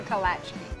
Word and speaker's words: Kolacky: a delicacy called, well, the pronunciation depends on who you ask. Kolacky. Kolacky. Kolacky. Kolacky. Kolachkis? I think it might actually be against the law to say Kolacky. Kolacky. My grandparents used to say Kolachki. Kolachki or Kolachki? Kolachki. Kolachki. Yep. Okay, that settles it. We're going with the expert's pronunciation.